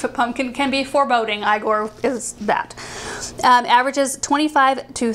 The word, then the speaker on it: Igor: It's pronounced Igor. Yeah, it's pronounced Igor.